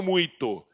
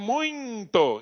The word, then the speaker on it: muito: tem som de nasalização Mas você sabe que não é muito eu não falo muito eu falo muito eu nasalismo e quando